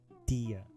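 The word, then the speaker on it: Dehya: goes for you too Miss Dia Dia okay that's the right pronunciation Dia de Dia Dia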